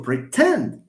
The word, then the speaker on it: pretend: Now, for pretend, do you say pretend? No. You pretend? No, it's you pretend. So again, here you have the second syllable, not the first.